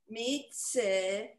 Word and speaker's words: mitzvah: Mitzvah. Okay, except it's silent, so it's mitzvah.